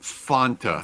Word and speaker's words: Fanta: the United States though calls it Fanta that was the that was the way they pronounced it on the commercials it rhymes with want don't you want want Fanta don't you